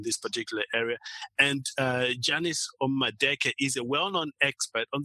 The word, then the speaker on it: Omadeke: And I have with me a special guest, Janice Omadeke. I hope I pronounced that right. And my name... Close. Janice Omadeke. Janice Omadeke. Awesome. Yes, there we go.